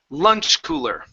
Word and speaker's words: lunch cooler: Okay, focusing on the L at the beginning and the combination lur here. Okay, so lunch cooler.